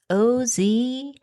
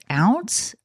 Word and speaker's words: Oz: that salon and said, "How do you pronounce it? O Z? Is it ounce? Is it oz? Is it It's just like, are you kidding me? It's Oz.